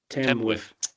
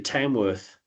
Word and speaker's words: Tamworth: Tenwith. It's not bad. It's actually Tamworth, right?